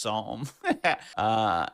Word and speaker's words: Psalm: I didn't even know that was pronounced Psalm.